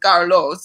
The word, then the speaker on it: Carlos: is like well um my name is actually pronounced carlos so with the rolled r and a lot of